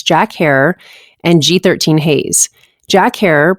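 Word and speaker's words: Jack Herer: her and G13 Haze Jack her pronounced like terror is a high energy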